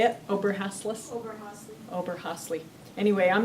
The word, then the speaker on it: Oberhasli: Oberhasli.